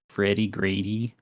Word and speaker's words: FREDDEGREDDE: Just go to YouTube and type in like Freddy Grady. It's spelled like FREDDEGREDDE, Wind Waker.